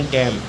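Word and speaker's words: damn: column N silent है अगला है डी एम एन इसमें एन साइलेंट है इसे पढ़ेंगे मम एच वाई एम एन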